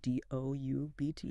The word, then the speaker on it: doubt: D O U Bt. Yeah. Doubt pronounced doubt or subtle.